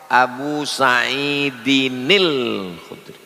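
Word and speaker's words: أبي سعيد الخدري: Kalau disambung muncul nun kecil namanya nun wiqayah Abu Saidinil Khudri. Begitu cara membacanya. Qul huallahu ahadun.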